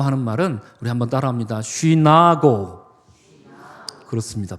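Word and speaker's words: συνάγω: 쉬나고. 그렇습니다.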